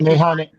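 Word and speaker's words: meyhane: came across this word that's mayan or am I pronouncing it right? Mayhane.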